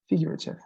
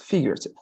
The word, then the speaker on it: figurative: listen figurative all right notice that in this case the the accent is here figure itself bigger right figure itself like this like as if you